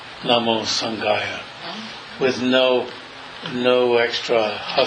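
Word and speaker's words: सङ्घाय: And with the next three, it's Namo Dharmaya, Namo Sanghaya, with no extra ha sound at the end.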